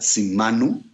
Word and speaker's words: Simanu: El mes de Sivan, que en acadio se pronuncia Simanu, es una referencia al tiempo, a la estación.